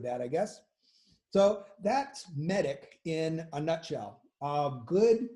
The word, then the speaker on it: MEDDIC: you get the idea some people have actually added another c so it's still pronounced medic um but instead of